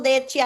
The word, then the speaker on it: Cappadocia: They take you to couple couple Cappadocia. I don't even know how to say it, but the hot air balloons are amazing. Cappadocia.